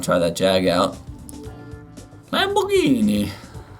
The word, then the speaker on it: Lamborghini: Lamborghini. I wish everyone would say it like that.